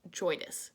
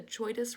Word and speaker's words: JOIDES: And I've actually learned since Earth Day that word, that acronym, I guess, is pronounced JOIDES. So you will hear me today calling this ship the JOIDES Resolution.